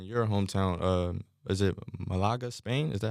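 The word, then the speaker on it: Málaga: the club in your hometown um is it Malaga Spain is that how you properly pronounce it yeah yeah played since seven correct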